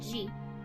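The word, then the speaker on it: 時: The first kanji is pronounced do, the second ji, and the last character is the hiragana for ni.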